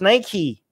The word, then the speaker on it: Nike: of nike wright and all these people are getting it wrong they see nike it's nike what's the same i